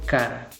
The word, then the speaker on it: char: inglés es decir caracter se escribe char pero se pronuncia car esta variable debe ser